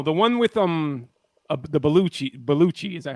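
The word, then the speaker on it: Belushi: was gridlock no the one with um the beluchi beluchi is that how you say it Tupac is in it um I don't know James balushi balushi yeah he he I I think he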